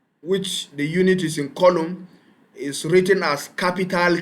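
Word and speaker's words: coulomb: to 6.24 * 10^ of 18 electron the column I mean column is spelled as c o u l o m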